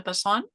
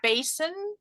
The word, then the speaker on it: Basson: actual name is bassan um sorry that I said your name wrong no it's not wrong it's every accent says it differently it's quite interesting um I've been called Basin um yeah there's a